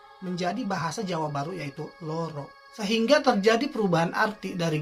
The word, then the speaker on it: loro: Kata Loro yang artinya untuk menunjukkan angka atau bilangan dua, ucapannya itu adalah loro, seperti ada u-nya, loro. Sedangkan kata loro yang artinya sakit atau menderita, untuk pengucapannya itu sangat jelas, yaitu loro.